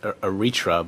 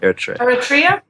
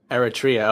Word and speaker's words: Eritrea: I always thought it was pronounced Eritrea, but hearing you say it, it's how did you say it? How's it? Eritrea. Eritrea. Okay, I had my pronunciation or emphasis on the wrong syllable.